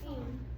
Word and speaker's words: fume: F U M E. What syllable type is this? U vowel consonant E. Okay, so how do I code this word? Make one on top of the U and press the E up because it's right. Okay.